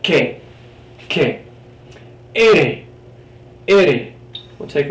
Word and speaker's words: que: It's always pronounced like the hard K sound, okay? So this word you're going to see a lot. K. Not que, not qui, but que.